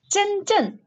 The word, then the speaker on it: 深圳: How do you say it? 深圳. Shenzhen. 深圳. 对. Shenzhen. Is that closer?